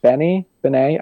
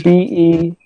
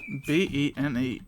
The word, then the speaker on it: BENEE: How about I don't want to mispronounce her name. Benet. I think she's from New Zealand, maybe. I don't Benny? know. How do you spell that? What? It's Benee. Benee.